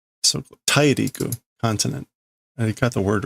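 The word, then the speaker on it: 大陸: Dairiku. So Tairiku, continent. I got the word right, not the pronunciation.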